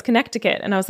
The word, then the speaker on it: Connecticut: took place along the connecticut shoreline in new haven county and one thing that i learned from this episode is that connecticut has a silent c it's spelt connecticut wow did you know